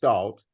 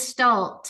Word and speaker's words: Gestalt: just stal and specifically equin just am I pronouncing it right Galt and explain to us what is gal therapy